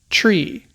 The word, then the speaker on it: three: things get garbled so the th sound and also V's they don't transmit well over the airwaves that sound kind of gets lost so that's why three becomes Tre four kind of is